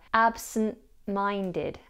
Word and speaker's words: absent-minded: In the compound adjective, the T is dropped, so we have absent-minded.